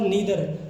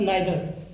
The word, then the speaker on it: neither: हालांकि समटाइ्स we pronounce it एज अ आइदर और समटाइ्स नाइदर। क्योंकि हमारे पास दो तरह की इंग्लिश है। एक ब्रिटिश इंग्लिश और एक अमेरिकन इंग्लिश। तो कभी जो अमेरिकन इंग्लिश में हम इसको आइदर एंड नाइदर। और ब्रिटिश इंग्लिश में इसको ईदर और नीदर। तो इस तरह से हम इनको प्रोनाउंस करते हैं।